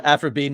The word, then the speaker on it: Aphra: given name so Aphra it is spelled a p h r a that is how I spelled afro just like afrobe or Dr AF for the Star Wars character the two people she's